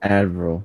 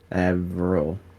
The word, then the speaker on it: Avril: Avril. It's like Adderall, like AD. Avril. Think of like an anvil. You know, like you make a sword on it. Yeah. But Avril.